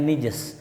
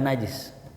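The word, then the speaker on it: نجس: kotoran annijs nah ini ada yang mengatakan bacanya nijis bukan najis ya kalau dalam ilmu Nahwu ilmu bahasa ya kata rijsun disesuaikan dengan kata setelahnya nijsun ya Jadi kalau kita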